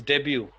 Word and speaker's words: debut: this one is debut. Debut. Debut. Debut, T is Debut. silent.